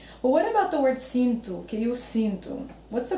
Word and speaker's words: sinto: Also notice how I pronounce the O at the end of the word. I say, eu sinto. So it's very common to hear the O sounding U.